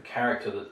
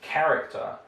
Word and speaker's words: character: Here we're talking about the CH digraph, so the character that's written CH. Russians often have problems. They prefer, obviously, to pronounce this quite literally, like letter for sound. So here it's character, it's not pronounced as